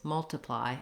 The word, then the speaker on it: multiply: In this case, multiply, I have a reduced vowel.